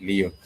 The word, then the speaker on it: leo: For today you would say Leo which is L E O like you see the star sign Leo.